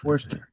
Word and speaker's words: Worcester: Worester. Okay. Worcester. Worester. Gotcha. Worester. Thank you. Properly pronounced worester.